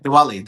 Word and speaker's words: Diwali: said it right, Diwali.